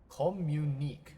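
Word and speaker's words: communiqué: The golden medicine enclosed in your recent commun communic how do you pronounce that? Communique.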